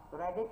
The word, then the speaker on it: predict: Predict là động từ trọng âm rơi âm tiết thứ hai.